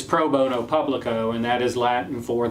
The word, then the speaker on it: pro bono publico: pro bono now but actually the term is pro bono publico okay and it has the same number of syllables as studio so it may sound